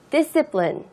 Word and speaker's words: discipline: discipline. discipline 여기 발음을요. I 발음이 조금 짧게 발음을 해주세요. discipline 이렇게 발음하지 마시고요. discipline 이렇게 좀 발음을 안으로 넣어서 발음해주세요. 그래야지 정확한 발음을 할 수 있거든요.